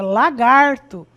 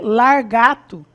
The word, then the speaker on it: lagarto: Ao invés de eu dizer dizer lagarto, que é o correto, é lagarto. Então eu vou dizer largato.